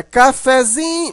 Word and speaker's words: cafezinho: é acentuada né mas na hora que você transforma essa palavra para cafezinho você observa que o fé ele não é tão fraco Mas ele também não é tão forte como o Zin a sílaba forte mais forte aqui é o Zin né cafezinho mas o fé continua um pouquinho forte Então essa sílaba intermediária